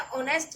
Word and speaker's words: honest: उसकी मम्मी ने उसे सिखाया था कि हमेशा ऑनेस्ट रहना चाहिए. ऑनेस्ट HONEST, इसमें H साइलेंट है. स्पेलिंग बोलेंगे ऑनेस्ट, O से ONEST, ऑनेस्ट. Okay, H silent रहेगा.